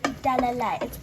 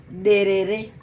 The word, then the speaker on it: derere: You can learn how to say derere. I can't pronounce it properly, but Mum, tell them how to pronounce it. Derere.